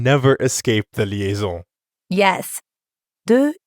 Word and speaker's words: deux: De is actually spelled with a silent letter X at the end. But when we add a vowel sound after it, like in euro, we end up with a liaison that has a Z sound.